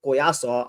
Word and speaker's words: Collazo: We was talking up Oscar Collazo um on on Twitter and Oscar Colazo or Coyaso, I I'll use the the Hispanic pronunciation.